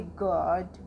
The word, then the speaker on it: guard: अब हम इसमें गुआर्ड क्यों नहीं पढ़ेंगे? क्योंकि यू लेटर के बाद हमारा ए वॉल है, तो इसलिए हम पढ़ेंगे गार्ड।